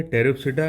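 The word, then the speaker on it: Pteropsida: इनमें ये चार ग्रुप है, टेरिप्सिडा, लाइकोप्सिडा, सिलोप्सिडा, स्पेनोप्सिडा। इसमें हर जगह पी साइलेंट है, जितने बच्चे इधर देखो, टेरिस पे ये पी साइलेंट है।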